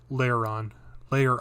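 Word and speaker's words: Lairon: So it's Lyrion. I think it's Larion. Layer-on, yeah. Because it's layer and then on.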